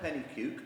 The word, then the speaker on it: Pennycuick: you want to but I think Kevin or penny puke which on top is the correct pronunciation has provides an important link which we